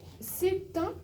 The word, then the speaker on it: c'est un: C'est un, pardon, c'est un. C'est un. La liaison, c'est un. Oui. Vous vous rappelez la liaison?